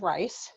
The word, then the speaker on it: Rice: My last name is Rice, like the rice you eat.